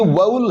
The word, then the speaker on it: vowel: बाद में जब ये समझ में आया था कि यार इसमें तो सिलेबल 2 नहीं, इसमें तो एक ही है, ये वाउल है, वाउल यानी एक जो साउंड है वो औ की साउंड है, न कि वो वल।